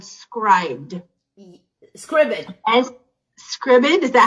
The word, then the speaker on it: Scribd: He taught me about an app called Scribd. Scribd. Scribd, is that how you say it? S-C-R-I-B-D.